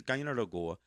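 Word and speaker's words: Kaianere'kó:wa: Guyana Goa, and I know that's pronounced different ways in different languages, but in Mohawk it's Guyana Goa.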